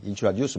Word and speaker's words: introduce: let me introduce myself. 내 자신을 너한테 소개할게. let me introduce. Introduce. T REC 엑센트가 뒤에 있죠.